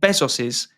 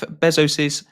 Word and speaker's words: Bezos: So also in April, an all female space flight took place using Jeff Bezos's is it Bezos or how do you say that? Jeff Bezos.